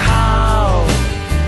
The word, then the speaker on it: khao: Suji ka halwa khao. Ow, ow, ow. Suji ka halwa khao. Khao rhymes with ow, which means to eat.